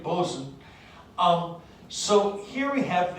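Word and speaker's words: boatswain: and a boson uh you can ask me why we pronounce this bosun but i can't tell you the answer because i don't know um but that's the way they say it boson um so here we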